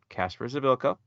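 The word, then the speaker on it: Kacper Przybyłko: concerned is Casper's ability' that's how it's said Casper's edokko in 22 matches he scored 13 goals six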